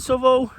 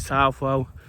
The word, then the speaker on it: Southwell: mention about Southall, Southwell, I've called it Southall a lot already, is how you pronounce it. Being from where I'm from, I'll probably call it Southall, but lots of people, particularly who live here, will call it Southwell.